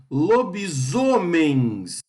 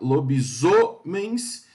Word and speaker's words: lobisomens: Parabéns, bens é a sílaba tônica. Lobisomens, o zo é a sílaba tônica. Lobisomens.